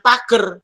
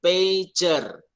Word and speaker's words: pager: Cara bacanya jangan pager. Kalau pager di halaman dong. Nah, ini namanya bukan pager, tapi pager.